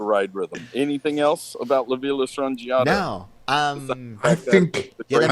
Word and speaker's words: La Villa Strangiato: Is it Libya Strangiato?